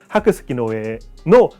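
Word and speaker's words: 白村江: 백제 백촌호 우린 백촌 일본은 하크스키노에라고 해요. 일본 말이기 때문에 강은 애라고 읽어요. 근데 백을 학글라고 읽은 거야. 그다음에 이거는 스혜라고 스키라고 읽었나 봐요. 하크 스키노에노 타다가 싸우면서 하이버 패배해 버려요.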